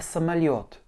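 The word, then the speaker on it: самолёт: Une bonne nouvelle, l'accent tonique tombe toujours sur le yo. Dès que vous avez un yo dans un mot, l'accent tonique est dessus. Donc mon A et mon O vont être réduits.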